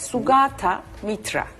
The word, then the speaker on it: Sugata Mitra: Sugata Mitra. Yani tamam. Aynen okunduğu söylediğim gibi yazılıyor ve okunuyor.